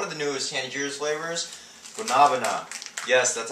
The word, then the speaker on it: Guanabana: for the one of the newest handy flavors gabana yes that's how it's pronounced uh it took me for a spin